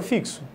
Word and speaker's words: fixo: um som da palavra fixo ao contrário eu tenho um para 2 sons isso ocorre sintac a palavra fixo fixo vai ter quatro letras e cinco toneladas ou seja é